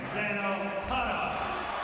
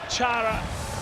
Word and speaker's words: Chara: Slovakia best player of Team Slovakia, number 33, Zdeno Hara. Zdeno Hara, or Chara as he is widely known, or Hara according to the correct and less common pronunciation.